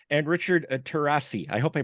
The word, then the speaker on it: Terrasi: I am here with Kevin losani and Richard tarasi I hope I pronounced those correctly okay you got it you